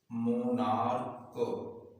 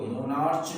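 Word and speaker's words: monarch: समझते हैं, मोनार्क, इसको क्या पढ़ते हैं, मोनार्क, मोनार्च नहीं पढ़ते हैं, क्या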